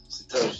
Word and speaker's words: Satoshis: Satoshis.